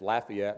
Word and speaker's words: Lafayette: She grew up there, and it's Lafayette. I had to ask her, considering here on the Georgia-Alabama line, we all know the different pronunciations of that. So depending on where the place is.